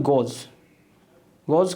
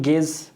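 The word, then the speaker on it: gauge: उसके बाद है गोज कहो या गेज कहो, जो कहना है कहो। इसका मतलब है किसी भी चीज़ का मेजरमेंट करना या फिर नापना। तो इसका भी स्पेलिंग देख सकते हो, गेज, इसको एक्चुअली कहा जाता है गेज, बट इसका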